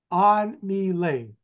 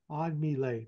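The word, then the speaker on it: An-My: most of her life in the United States on M on M that's how you pronounce her name she's born in saon Vietnam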